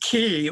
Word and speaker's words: Ki: could be some sweet teen dawn but it's pronounced key or do I think there's possible overlap sure